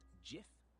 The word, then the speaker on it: GIF: the creator of the GIF format Steve wi stated that it should be pronounced GIF with a soft G like the brand of peanut butter however many people pronounce